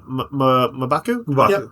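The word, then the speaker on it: M'Baku: seeing uh Ben Grim shaking hands with uh Mabaku is how you say um uh since the Wakanda and the Black Panther debuted in Fantastic 4 comics.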